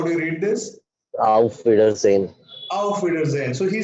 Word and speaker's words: Auf Wiedersehen: Correct pronunciation. How do you read this? Auf Wiedersehen.